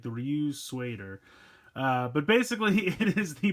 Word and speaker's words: Ryutsueider: I always have a hard time pronouncing this, but it's Ryutsueider, kind of almost like the American word suede, so it's like the Ryutsueider.